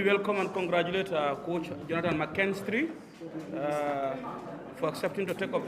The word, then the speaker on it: McKinstry: For a start, the surname, despite the K-I-N, is McKinstry. It's pronounced as McKinstry.